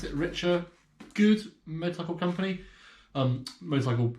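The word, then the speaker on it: Richa: up were these motorcycle gloves they are by richer yeah that's how you pronounce it richer good Motorcycle Company um motorcycle clothing company I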